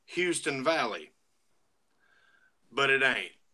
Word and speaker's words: Houston: Well, it's spelled like Houston. So, everybody sees it and they come up and go, "Yeah, we're going to Houston County." I said, "No, you're going to Houston County."